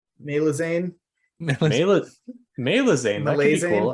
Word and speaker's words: Malazan: Or we could pronounce the A's as like English A's. Malazane.